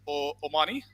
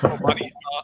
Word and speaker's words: O'Mahoney: straight to it and introduce you to Omani. We just realized how to pronounce his name right, so we're going to keep saying that today as much as we can. Omani, and thank you for joining us.